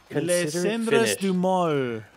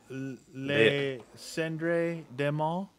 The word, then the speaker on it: Les Cendres du Mal: Les Cendres du Mal. Oh. I listen fluently. Yeah. Don't pronounce the S. Les Cendres du Mal.